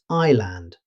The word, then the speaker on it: island: Although it's spelled with an S, native speakers pronounce it island. The S is completely silent.